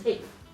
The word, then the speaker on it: eighth: But these also get merged into one phonetically because nobody is saying somebody came in 8th. 8th. That's a pain. So instead, what we say is 8th. Right? We merge the TH and the T together.